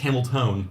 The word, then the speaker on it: Hamilton: Hamilton may mica pronounce it's actually pronounced Hamill tone the e is not present I would love if